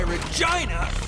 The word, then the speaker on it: Regina: have accidentally married Regina that's why Regina rhymes with fun and the claim that